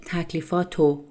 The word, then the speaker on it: تکلیفاتو: When I spoke fast, I said تکلیفاتو. I omit the he sound in تکلیفات and re sound in رو, which is the informal pronunciation of را. It turns into تکلیفاتو.